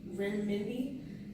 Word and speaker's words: renminbi: The currency in China is the renminbi.